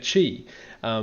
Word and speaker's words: Qi: might be thinking about Chi which is spelled Qi so essentially Reiki uses